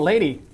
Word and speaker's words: Leyte: Well, and you also went to, and I'm going to pronounce it wrong, Leyte, Leyte? Oh, Lady? Is that it? Lady Luzon? Let's see here. Oh, Lady. Yeah, Lady on Luzon.